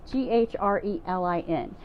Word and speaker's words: ghrelin: of all what is grilling and it's not the barbecue grilling outside it's totally I had to look up the word just to see how to pronounce it it's GH reli in so grilling is a